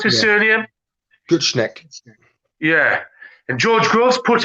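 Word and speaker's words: Gutknecht: How do you pronounce his surname? Gutschneck.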